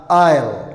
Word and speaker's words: isle: hormaray I waa la aamusinaya iyadana maxay noqonaysa isle maxay noqonaysa isle ayaa noqonaysa silent t t da aamusan t